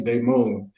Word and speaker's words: Damon: It's spelled Damon, but it's actually Damone.